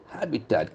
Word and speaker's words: habitat: Okay, Habitat. habitat. The accent falls on the first syllable.